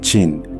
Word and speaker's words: Qin: The name China itself derives from his dynasty, Qin, pronounced Qin.